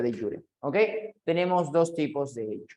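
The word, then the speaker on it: de jure: Ok ahí está se escribe jure pero se pronuncia de yure Okay tenemos dos tipos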